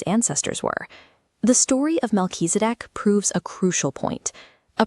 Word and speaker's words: Melchizedek: His name is pronounced Melchizedek, and he was very different from the regular priests.